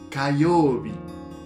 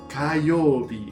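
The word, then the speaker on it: 火曜日: Martes se dice Kayobi. Kayobi.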